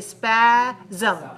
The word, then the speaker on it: spasm: espace ohms now remember this word is like mechanism the sm there's a secret vowel in there we don't write a vowel letter but we have to pronounce a vowel sound so we say spasm spasm spasm right so you get